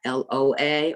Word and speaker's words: Loa: In Haiti, the deities or entities there are called Loa, L-O-A, or L-W-A. It's pronounced the same way, Loa.